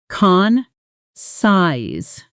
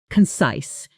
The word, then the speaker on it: concise: Let's pronounce it. Con size. The stress is on the second syllable and that size part rhymes with nice. Practice with me. Concise now.